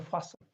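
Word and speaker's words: fasten: हाँ, अगर यहाँ तक वर्ड आता है तो फास्ट होता है ना, लेकिन इस वर्ड के अंदर ये यहाँ पर टी साइलेंट है, इसको बोलते हैं फासन।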